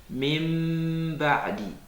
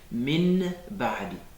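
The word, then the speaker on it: مِنْ بَعْدِ: est suivi d'un ba, au lieu de prononcer le noun qui est écrit, on prononce un mime, on le transforme en un mime avant de prononcer le ba. Exemple, mim ba'di. Mim ba'di, le noun sakina suivi de ba. On va pas dire min ba'di.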